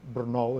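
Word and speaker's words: Brno: the the city of of Bernal is the way it's pronounced and also in hind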